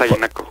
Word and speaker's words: Aguinaco: pronunciando bien el nombre Porque este nombre se pronuncia aguinaco o aguinaco dependiendo de Qui de quién sea sí así es es aguinaco Buenos días Hola Qué tal Cómo estás Andrés